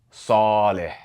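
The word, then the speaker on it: صالح: And as we explained, the letter sad sounds like a heavy version of s, such as in the English word saw.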